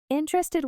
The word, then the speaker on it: interested: Interested with stress on est.